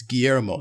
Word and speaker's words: Guillermo: right yeah how what do you think of guillermo del toro in this game okay i i gotta correct you on this it's guillermo just so you know i'm you know what